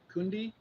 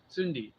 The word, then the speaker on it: Cundi: This is a mirror of Kundi, pronounced mirror of Tsundi, Cundi.